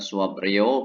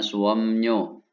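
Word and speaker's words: 수업료: Suamnyo ya, Suaprio bacanya Suamnyo.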